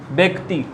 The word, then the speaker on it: ব্যক্তি: তাহলে দেখো, শব্দের মধ্যে জফলাযুক্ত ব্যঞ্জনের পরে যদি হ্রস্বই বা দীর্ঘই থাকে, হ্রস্বই বা দীর্ঘইকার উচ্চারণ হয়, এখানে দেখো কি উচ্চারণ হচ্ছে? দীর্ঘইকার উচ্চারণ হচ্ছে। তাই জফলার জায়গায় কি উচ্চারণ হবে? একার উচ্চারণ হবে।